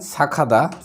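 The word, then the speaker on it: 착하다: ছিনজরাদা দয়ালু এরপর দেখেন সাখাদা সা খাদা হবে সঠিক উচ্চারণ হবে সা খাদা মানে গিয়ুকের পরে হিউ থাকলে এই গিউকটার উচ্চারণ খিউক হয়ে যাবে সাখাদা অর্থাৎ এটা দ্বারাও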